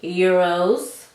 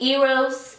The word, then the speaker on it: Eros: alive this is Versace euros poor femme and somebody in the kind say you always pronounced it euros it's not euros okay eros eros maybe it's eros but this is Versace